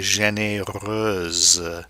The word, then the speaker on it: généreuse: Elle est généreuse, she is generous. And the X changes to an SE to permit that pronunciation of the généreuse.